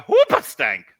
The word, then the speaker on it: Hoobastank: Having said that, I was having a particularly not great day about a year ago, and I was listening to Hoopastank. That's how you pronounce it.